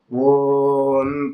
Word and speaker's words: ஓம்: பிரதானப்படுத்தி சொல்றதுன்றது பிரதானம் என்னது ஓம் தான் ஓம் அப்படித்தான் சொல்லணும் ஓம் அப்படித்தான் சொல்லணும் அதுல வந்து பார்த்தீங்கன்னா ஆ ஓம் அப்படி எல்லாம் சொல்லக்கூடாது இது வந்து அசாஸ்திரியம் ஏன் அப்படின்னு